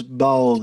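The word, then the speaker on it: Baul: teaching sounds like uh is it ball people i think yeah it's bold it's spelled b-a-u-l and um i'm sure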